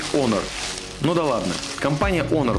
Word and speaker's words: Honor: на ролике компания канарах он кому как нравится говорить говорят правильно говорить конор ну да ладно компания